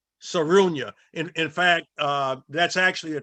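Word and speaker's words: Sarraounia: Her name is pronounced Sarunya. Sarunya.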